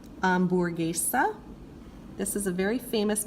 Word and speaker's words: hamburguesa: The H is always silent. Ignore it. Pretend like it's not even there. Just go straight to whatever the next sound is. So this is hola, hamburguesa.